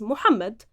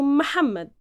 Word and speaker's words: Muhammad: the modern standard Arabic, the proper pronunciation of it is Muhammad. But since we tend to soften and make any pronunciation much easier, in the Egyptian colloquial Arabic, we've transformed it into Muhammad.